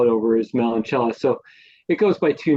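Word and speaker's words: Meloncella: the it's just called melan Cella it's m e l o n c e l l a so they pronounce that Chella but yeah that's um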